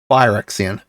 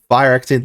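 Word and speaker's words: Phyrexian: attracta grand unifier um fire Xian I pronounced it wrong last time I apologize fire Xian there's a lots of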